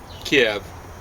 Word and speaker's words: Kiev: a second hand again kiev that's more like the russian pronunciation of photo will help